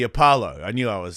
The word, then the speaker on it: Apollo: the is it the Impala? Is that how do you say it? Yeah, like the Apollo.